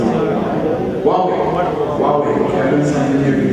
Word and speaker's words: Huawei: I don't know how to pronounce it. Huawei.